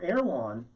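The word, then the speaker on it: Erewhon: the grocery store in in los angeles now erwan which is spelled e-r-e-w-h-o-n erwand and it's an anagram of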